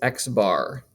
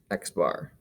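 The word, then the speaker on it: x̄: little line over top of it and we pronounce this x bar x bar and the notation we use is x bar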